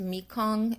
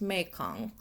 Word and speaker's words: Mekong: Just to be clear, I thought it was pronounced Mikong. It's not. It's pronounced Meong.